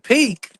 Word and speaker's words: Peek: It's spelled Peek. That's like two or three E's. I said three E's. It still sounds the same if you put two or three. It don't matter. Yeah, if you spell it with three E's or two E's, it's still pronounced peak. Or it's just peak.